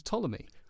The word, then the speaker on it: Ptolemy: His name was Ptolemy, spelt with a P. Like pterodactyl. I learned that this week. That's quite clever, and I don't think you've realised that. Yeah, Ptolemy, like pterodactyl.